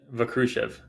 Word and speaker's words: Vakrushev: I should have asked you, how do I pronounce your last name? It's Vakshruv Vakrushev.